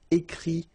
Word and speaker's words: écrit: Remember, you put this T, you don't pronounce it. Écrit, dit, all right?